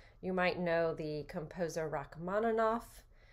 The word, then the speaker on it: Rachmaninoff: the composer rachmaninoff right his name in english is often spelled with two f's but in russian it's a it's a v so the actual phoneme is but because it's at the end of a word it gets pronounced as f because it's devoiced okay so i'm just trying